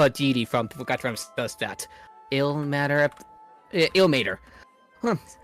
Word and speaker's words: Ilmater: I don't think that's how that word is pronounced, but I can never remember how it's spelled. It's ill matter. Ilmater, thank you.